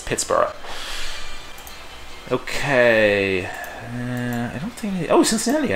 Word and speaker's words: Pittsburgh: Yes, I know they pronounce it Pittsburgh, but if they put an H at the end of the name of the city, I'm going to pronounce it the way the Scots do. It's Pittsburgh.